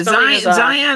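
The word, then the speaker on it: Scion: worry about it yeah zion is spelled s-c-i-o-n which is really weird it should be like zio and so yeah totally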